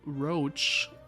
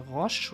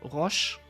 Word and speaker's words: Roche: Der Vernon Roach ist von seiner Aussprache einfach falsch. Der wird in anderen Sprachen ganz anders gesprochen. Ich glaube, im Polnischen heißt er Roche oder Roche oder irgendwie so ähnlich.